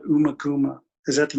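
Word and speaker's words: Ummagumma: I think it's called Umakuma. Is that the name of the album, maybe? It's actually pronounced Umaguma. It's one of those ones that everyone mispronounces. People think it's called Umaguma, but it's pronounced Umaguma.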